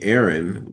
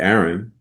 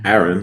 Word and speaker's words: Aaron: I mean, I always just say it's like when you pronounce the word apple, you know, it's not a double A for apple.